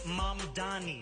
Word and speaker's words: Mamdani: and furthermore, the name is Manni. M A M D A N I. You should learn how to say it.